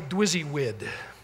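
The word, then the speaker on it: DWYSYWD: way of saying it they called it simply dizzy wid is how you pronounce that which stands for what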